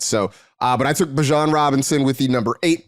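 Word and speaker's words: Bijan: who by the way, we have learned officially it is Bjon. It is not Bejon. It does not rhyme with a type of mustard.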